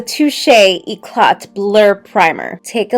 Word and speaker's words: Touche: because it's bougie language this is the touch no not touch the touche eot blur Primer take